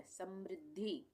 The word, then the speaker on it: समृद्धि: का प्रयोग हुआ है, और यहाँ पे आधा द है और ये पूरा ध है। ये यहाँ पे ध है, थोड़ा सा जुड़ गया है यहाँ पे। ये ध का उच्चारण पूरा हो रहा है, द का उच्चारण आधा हो रहा है।